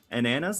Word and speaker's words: Ananas: Uh Ananas Ananas like bananas but not and then Lingansilt.